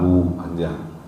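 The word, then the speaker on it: هو: Jadi kata huwa itu kalau diwakafkan bacanya apa? Hu, gitu kan? Wallahul ladzi la ilaha illa hu. Jadi huwa itu kalau di waqaf bacanya adalah hu panjang.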